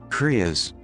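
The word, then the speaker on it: crias: Let me find a pronunciation. Is Krias.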